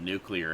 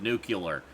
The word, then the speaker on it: nuclear: speech she said nucular instead of nuclear and I cringed mmm that's like oh I was with you with okay boomer but then you lost me with nucular whatever you're representing the